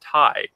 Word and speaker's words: Ti: suck for me who just bought a 1080 T I like oh and following up on that according to an a with with with an Nvidia employee apparently it's not pronounced ti is pronounced ty you a TI door for